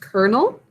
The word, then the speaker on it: colonel: can anybody think of another word that is pronounced colonel but not like a kernel of corn tag it's a rank